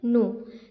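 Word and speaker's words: know: The lamb pleaded, pleaded, pleaded, O wolf I नो, इसे क्या पढ़ेंगे नो, यहाँ पर के क्या है साइलेंट है, यहाँ पर के साइलेंट है।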